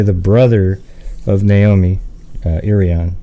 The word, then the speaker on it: Irion: brother of naomi uh irian is it irian that's how you say it right yeah it's irion yeah so how's the